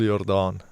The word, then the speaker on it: Jordaan: And is that how it's pronounced? It depends on what language you're using. Yeah. But in Afrikaans, it's Jordaan.